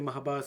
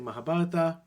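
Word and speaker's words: Mahabharata: just some people say Mahabharat some people say mahabarata um it's it's with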